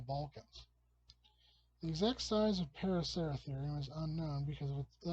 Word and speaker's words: Paraceratherium: Anyway, the extinct animal of the week is the Paraceratherium. I've had to memorize this in order to pronounce it right.